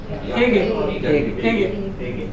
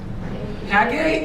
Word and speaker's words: ಹೇಗೆ: ಹೇಗೆ. HAY, GAY. or HEG also you can use. Hage also you can use.